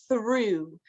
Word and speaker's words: through: And then this one is through. So O-U-G-H can make the oo, the O, or the ah sound. So though, thought, and through.